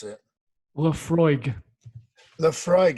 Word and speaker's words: Laphroaig: matt very nice let's see if you can pronounce it i noticed there's no uh ice in there uh lapper horrig try again lapa horig is that your answer